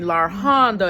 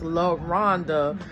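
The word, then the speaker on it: LaRhonda: Um, sometimes they mispronounce my name and call me La Honda and it's not Lana and I get upset. It's La Rhonda.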